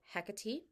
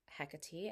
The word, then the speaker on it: Hekate: pronunciation best and uh according to my research it's also the more Greek pronunciation of the name so that's the one I use and so hecatee Morgan lafaye or Morgana